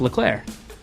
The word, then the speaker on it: Leclerc: The C at the end is silent because it's pronounced Leclerc.